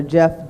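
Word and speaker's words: Geoff: That's Lieutenant Governor Jeff Duncan, and his name is spelled with a G, G-E-O-F-F as in Frank.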